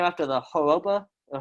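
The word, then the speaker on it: Harappa: the name after the haropa uh i think it's like it's hawapa i believe that's how you say it not great at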